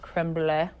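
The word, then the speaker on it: crème brûlée: I believe it's pronounced creme brulee.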